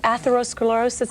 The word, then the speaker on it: atherosclerosis: Well, how does atherosclerosis, is that the way you pronounce it? Yes, it is.